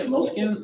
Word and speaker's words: Moleskine: Moleskines?